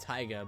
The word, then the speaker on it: Tiga: I should go report into Tiga. I think it's Taiga. They pronounce it Taiga, but I feel like it should be Tiga.